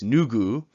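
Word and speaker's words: 누구: two-block word right so you start with the n sound then ooh then the G sound then ooh and that makes new goo which is who and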